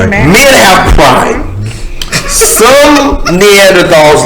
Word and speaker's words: Neanderthal: Some Neanderthals like Nathan are not able to. It's pronounced Neanderthal.